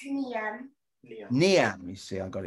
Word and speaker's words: Niam: Now, Niam, have I pronounced it correctly? It's Niam.